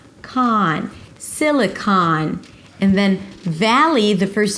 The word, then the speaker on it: Silicon Valley: It's not "seeleecon vallee". 'Si-li-kaan' - primary stress on the first syllable si-li and then it's the /aa/ as in father.